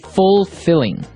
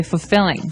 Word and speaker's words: fulfilling: Now notice the pronunciation. You don't say fulfilling. No, you say fulfilling. Fulfilling. So the L there is kind of silent. Kind of optional.